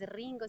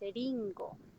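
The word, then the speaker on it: りんご: Entonces cuando tú dices, por ejemplo, Ringo, no es Ringo, sino que es Eringo.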